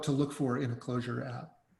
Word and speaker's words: Clojure: Clojure. Yeah. We don't have rules built for Clojure yet.